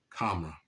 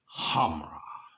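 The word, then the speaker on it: Khamrah: None other than Kamra. Or should I say, let me pronounce him by his government name. Hold on, let me get him right first. Hamra by Latafa.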